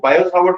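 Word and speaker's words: Biot–Savart: रहे हैं हम लोग बायो सावर्ट्स लॉ ये टी साइलेंट रहता है इसमें बायो बोलते हैं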